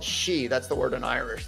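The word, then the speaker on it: sídhe: Yeah, DHE, but it's pronounced she. Like banshee, that means female she.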